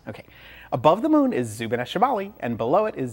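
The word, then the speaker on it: Zubeneschamali: some good ones okay above the Moon is zubaneshibali and below it is Zubin Al janubi yes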